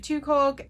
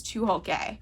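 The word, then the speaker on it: Tucholke: It is stories selected by April Genevieve Tukolk, or actually, I just looked up how to say her name properly, and I believe it is Tuholke.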